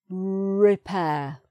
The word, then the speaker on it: repair: garage, pronounced, for, or, so that's not pronounced, repair. Ah, so we've got repair, so that one isn't pronounced at the end.